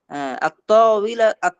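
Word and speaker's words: الطاولة: আত-তাওয়িলা এই দেখেন আত্ত, আমি এখানে আলিফ লামের লামটা পড়তে পারছি না, কারণ এটা হলো হুরুফে শামসিয়া।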